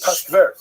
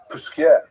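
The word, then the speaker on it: Posquières: And in Jewish life generally we call it pas but Pas is somewhere in you know that's in Lithuania maybe but it's not the real correct pronunciation. So it's Pusier and and that great town now it's not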